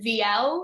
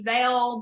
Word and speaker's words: Viel: could pronounce it so technically it's vl it's as i say first letter last letter that's the italian way of pronouncing my name um but i tell people vale because it's like available where because it's easier that way um fun fact is